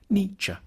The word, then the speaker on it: Nietzsche: The first bit should sound like ni, the second like cha, Nietzsche.